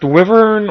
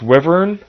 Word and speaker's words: wyvern: as humanly possible no is it pronounced wyver or wyvern I've always pronounced it Wyn in fact I have a Wyn tattooed on my right arm but I don't know how it's pronounced I think it's wyvern but that's kind of